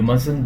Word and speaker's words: must: start with vowel so we don't pronounce the T in must or mustn't when the next word start with consonant you mustn't be late